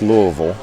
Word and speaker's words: Louisville: so Ken here is correct that it's pronounced Louisville, but that's not the capital of Kentucky.